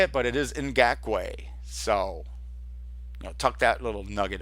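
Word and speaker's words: Ngakoue: And another player that we want that we've touched on here is Yannick, and I finally know how to pronounce his last name. It's Ngakwe.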